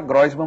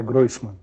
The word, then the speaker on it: Groisman: Todo mundo fala Grosman, mas você me diz que não é Groisman. É Groman. É Groan, né?